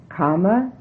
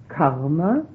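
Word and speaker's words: kāma: loca is location realm karma is desire not karma but karma with a long a is desire realms of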